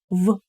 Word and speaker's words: в: В чем дело или в чем проблема. Да, в чем. When we pronounce в more like f actually.